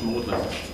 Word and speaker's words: Magdalen: And in my college, Magdalene, as it's pronounced, we know that people will be playing after dinner precisely this music, you know, in the 17th century.